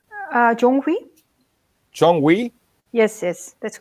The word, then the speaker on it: Jonghwi: how is the sorry how is your name pronounced correctly John Murphy John we yes yes that's correct John we Parker yeah